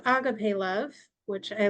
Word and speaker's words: agape: type of love the agape love absolutely um so yeah I mean you know Agape uh that's how I pronounce it U I think that's the correct form this comes from the